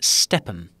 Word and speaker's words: Stepn: So let's start off with the largest one, the most well-known perhaps, which is a project called Stepn, and that is spelled S-T-E-P-N, Stepn.